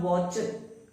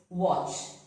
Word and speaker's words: watch: So it is not watch, but it's watch.